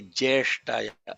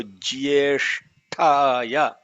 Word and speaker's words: ज्येष्ठाय: The fundamental mistake a lot of people make is they don't pronounce the GA. They say Jeshtaya. Jeshtaya is incorrect. It has to be Jeshtaya.